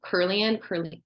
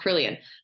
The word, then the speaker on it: Kirlian: I mean, maybe I'm not saying it right. Kirlian, I think it's pronounced Kirlian.